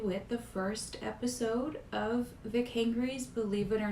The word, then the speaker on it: Vic Hangry: A lot of people have trouble pronouncing it. Like they see it online and they're like Vic. I think they think too hard about it, and it isn't that complicated. You just Vic Hangry. So, anyways, that's how you pronounce that.